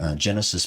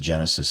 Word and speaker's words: Genasys: So the second thing I tell people is to use the Genesis Protect app. So Genesis, it's spelled GENASYS as opposed to SIS, but it's Genesis Protect.